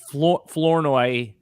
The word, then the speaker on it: Flournoy: Flournoy. Yeah. What are some other common mispronounced names this year?